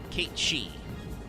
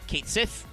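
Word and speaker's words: Cait Sith: but it's not great Kate shei or Kate Sith if you're a pleb who doesn't understand how to pronounce galic phenomes is that thing humans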